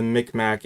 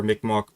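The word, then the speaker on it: Mi'kmaq: this uh it's uh the mick mac and or mick mock people depending on how you want to pronounce it i have had the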